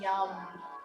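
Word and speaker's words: yam: today you can choose the seed sound yum that's the mantra y a m pronounced it has that nice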